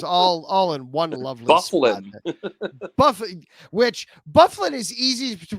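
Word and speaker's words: Byfuglien: in the video game, they pronounced it Byfuglin. And I was sitting there the whole time was, who the hell is Byfuglin? Oh my gosh. That's Bufflin. Bufflin.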